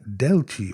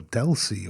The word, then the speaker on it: Delci: and today it's the cine Deli or dely or not quite sure how you want to pronounce it I pronounce it Deli for some reason it's it just reminds me of an Italian pronunciation but anyway the good